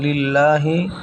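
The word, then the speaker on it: لله: লিল্লাহি এখানে লামের উপর খারা জবর, লামের উপর খারা জবর এখানে লিল্লাহি। এই যে লামের উপর খারা জবর, এখানে লিল্লাহি, লামের উপর খারা জবর আছে। এখানে লিল্লাহি 1 আলিফ এখানে টান হবে।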